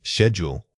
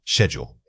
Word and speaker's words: schedule: Schedule. Right. Schedule. Finally, remember that schedule can be pronounced in two ways depending on your region.